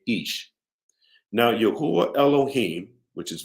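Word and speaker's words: איש: We have the spelling of Ish, pronouncing or the pronunciation being Ish.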